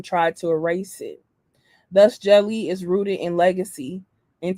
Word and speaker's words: Djeli: I started Jelly because gatekeeping in publishing is real, and I got tired of asking for permissions to be seen, heard, and valued on the page. Jelly, pronounced jelly, goes beyond publishing.